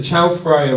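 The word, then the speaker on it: Chao Phraya: canals and Lush Landscapes historically the Chow fra River am I pronouncing that correctly is that correct I'm getting a thumbs up excellent and its extensive network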